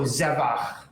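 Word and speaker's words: זבח: The rule is that you accent the second to last syllable. They call it the penultimate syllable. So zevach.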